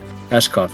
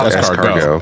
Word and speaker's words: escargot: see, I know it's escargot. Escargot. Escargot. Escargot, yeah. Yeah, I yeah. was to say escot. I was probably thinking of a sword. You're pronouncing it phonetically.